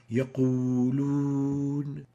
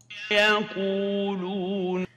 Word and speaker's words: يقولون: In the here, we exaggerate the pursing of the lips when pronouncing the waw, like يقولون. And let's compare that with the proper pronunciation as we hear it from Sheikh al-Husari. يقولون. So in here, we have to avoid exaggerated pursing of the lips when pronouncing the waw. يقولون, and not يقولون.